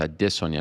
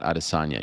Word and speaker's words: Adesanya: It's not quite as tough as Adesanya. You know they say that incorrectly. It's Adesanya, not Adesanya.